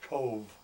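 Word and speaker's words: Cobh: And then the the port is called Cove. It's C O B H but it's pronounced Cove.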